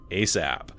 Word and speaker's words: ASAP: ASAP, pronounced ASAP, an acronym of as soon as possible.